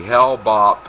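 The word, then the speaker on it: Hale-Bopp: Um, years ago, it might have been 1997, there was an event called the Hellbop UFO suicides or the Hellbop Comet Suicides. Hellbop is spelled H A L E B O P.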